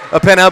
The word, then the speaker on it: Upena: can tell you is I did talk with Coach Upena before the game, and he told me Upena.